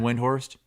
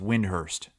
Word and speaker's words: Windhorst: NBA uh yeah Brian windhorst he said it's actually pronounced Windhurst really and they just